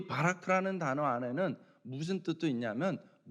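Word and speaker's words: בָּרַךְ: 여기서 복을 주셨다라는 것이 원어로는 바라크입니다. 바라크. 여러분, 그 바라크가 이 아랍어 발음이 히브리어 발음이지만은, 여러분 이게 영어식 발음이면은 버락입니다. 버락.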